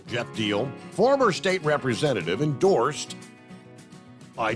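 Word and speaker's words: Jeff Diehl: Jeff Deal, I believe is the way you pronounce the national, D-I-E-H-L. I guess it's Deal, right? Jeff Deal, former state representative endorsed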